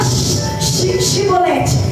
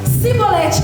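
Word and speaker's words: shibboleth: iread aí ele falava Então fala chibolete eles não conseguia falar porque pronunciava diferente eles conseguia falar sibolete quando falava sibolete eles degolaram cortava a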